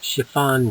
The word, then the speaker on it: chiffon: This one is chiffon cake. Chiffon. I found this pronounced two different ways, different dictionaries, different looking on the internet. Chiffon, chiffon, or chiffon. Okay, it depends where you are, I guess.